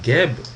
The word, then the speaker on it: Geb: Sachons enfin que lorsque nous disons Geb, c'est ce que nous avons précisé tout à l'heure, c'est parce que nous rajoutons un E pour pouvoir prononcer ce mot dont le squelette est en réalité constitué des consonnes G et B, le G pouvant se réaliser en K comme attesté en phonétique.